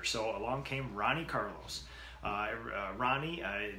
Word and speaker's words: Ronnie: Ronnie, the Portuguese pronunciation is probably Honi or Hon.